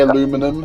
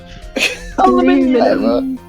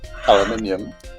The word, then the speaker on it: aluminium: Please don't say aluminum. I don't think I will. Aluminium. Aluminium.